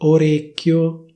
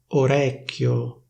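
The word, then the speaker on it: orecchio: Instead of saying /orécchio/, they say /orècchio/, /orècchio/. Instead of saying /élmo/, they say /èlmo/, /èlmo/.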